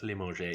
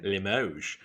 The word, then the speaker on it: Limoges: Apparently, it's not pronounced Limoges, it's pronounced Limoges.